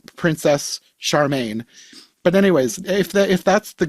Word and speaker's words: Charming: Which apparently is spelled just like Prince Charming, but they pronounce it like Prince Charmaine because Oh I my looked up the gosh.